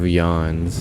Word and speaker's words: Jan: It's like Council of Yans the game. Yan is uh your character or like it's spelled Jan.